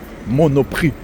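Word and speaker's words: Monoprix: All right, we're going to walk over to a store over there called Monop. You don't pronounce the X. It's silent.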